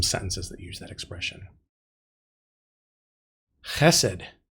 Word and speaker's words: hesed: that use that expression hesed note the accent on the first syllable so this is a